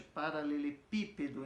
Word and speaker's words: paralelepípedo: Então esse pi é mais forte, paralelepípedo.